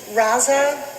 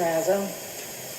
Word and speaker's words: Razzo: Next, we have Raza. Did I say it correctly? I'm sorry. My name is Razzo.